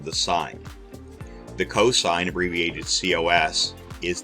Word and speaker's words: sine: the sign it's pronounced sign that's the word that's the abbreviation but you still say sign not sin so the sign of